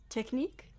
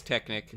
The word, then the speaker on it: Technic: missed what he said techies a technic technique yes it's technic I knew it I know it's all my life I pronounced it correctly yeah good to know